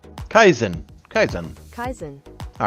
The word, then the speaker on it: Kaizen: for me and now we're going to actually pronounce k a i z n Kaizen Kaizen Kaizen Kaizen all right so Kaizen is a